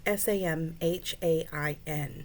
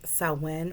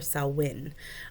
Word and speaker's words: Samhain: selwyn and it's spelled s-a-m-h-a-i-n which looks like it said uh samhain but it's actually pronounced uh pronounced salwen or selwyn um so it's a